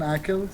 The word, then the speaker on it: Aqel: Can you just say Aqel so people can know how to pronounce it?